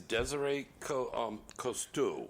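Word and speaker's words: Desiree Cousteau: That is Desiree Costeau.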